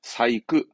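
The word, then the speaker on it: 細工: 이것도 발음은 사이크, 사이크.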